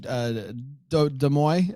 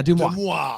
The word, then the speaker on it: Des Moines: Des Moines, the rumor site on Instagram. Oh, you follow Des Moines? Yeah, Des Moines.